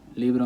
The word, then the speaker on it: libro: it means second-to-last so when you get a word like liberal libro means book leave libro you know that the stress could go in one of two places Lea or bro but if you're following rule one rule one helps you identify that since it ends with an O the stress is gonna have to go on the second-to-last syllable all right li libro